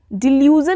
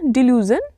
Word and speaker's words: delusion: डिल्यूजन नहीं, उसको pronounce करेंगे डिल्यूजन, DELUSION।